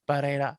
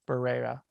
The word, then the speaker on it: Barrera: My girlfriend has reassured me that it's Barrera instead of Barrera.